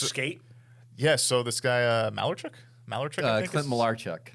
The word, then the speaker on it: Malarchuk: so this guy Malarchuk, I think Clint is- Malarchuk.